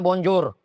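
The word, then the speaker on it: Bonjour: L tulisannya Bonjor menanyanya Bonjo. Selamat pagi Bonjo.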